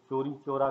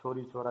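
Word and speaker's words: Chauri Chaura: बट 2 फरवरी जो है वो 1922 में आपके एक चोरी चोरा का, छोरी छोरा जिसे आप कहते हैं, बट स्पेलिंग की वजह से, वो एक मरतबा मैं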